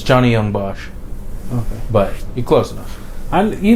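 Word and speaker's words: Johnny Yong Bosch: oh what will that guy yeah it's a John Bach close the first name is correct last name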